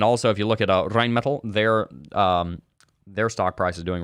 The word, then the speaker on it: Rheinmetall: Because if you remember, Rheinmetall said that they were going to send, let me pronounce it in the German way, Rheinmetall.